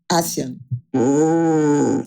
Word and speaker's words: ASEAN: A pronúncia, sabemos? Uma cúpula que vai ter na Malásia? Associação de Países do Sudeste Asiático. ASEAN.